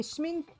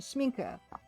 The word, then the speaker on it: Schmincke: Okay, Sminke. Okay, thank you for pronunciation key. Sminke.